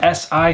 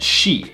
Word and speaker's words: shi: What you'll notice about the S sounds pretty quickly is that the SI sound is not si, but shi.